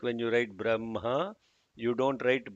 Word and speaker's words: Brahma: like when you write Brahma you don't write b r a m h a it has to be written as b r a h m a but it is pronounced as b-r-a-m-h-a similarly with one he